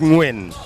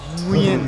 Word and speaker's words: Nguyen: His name is pronounced Nguyen. Nguyen. Nguyen. Nguyen. N-G-W-I-N.